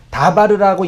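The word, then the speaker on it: דבר: 그게 다바르라고 읽고 뜻은 말씀이라고 해석하는 거고 말씀만 있는 것이 아니라 사건 이벤트라는 뜻도 있어요.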